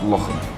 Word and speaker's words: Lochem: My brother and I, we grew up in a small town called Lochem, which, funnily enough, rhymes with my brother's name, Lochem.